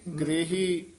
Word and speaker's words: गृही: अंतर साच लिव लागी ग्रही ग्रही इस तरह उच्चारण करना ग्रही क ता रारे न